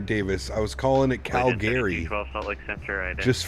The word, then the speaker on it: Calgary: What the fuck is a Calgary? It's Calgary. Calgary. Calgary. Half the Canadians pronounce it like that.